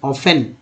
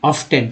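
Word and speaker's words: often: अलग अलग पढ़ा होगा, लेकिन शुद्ध उच्चारण ऑफन ना कि ऑफ्टन, टी यहाँ साइलेंट है।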